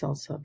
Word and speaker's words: SLSA: open j9 site and it's slsa sorry it's pronounced salsa but it's slsa.dev if